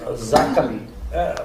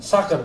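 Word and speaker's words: zaken: Ya kita berharap bahwa Zakon, pronunciasinya apa? Zakon atau Sakon? Sakon ya, Sakon kabinet ya.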